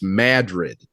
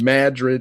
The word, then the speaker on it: Madrid: And I go, "Well, how else would you pronounce it?" and he goes, "It's Madrid." Yeah, that's what it's so stupid, but but that's how it was is Madrid, Iowa.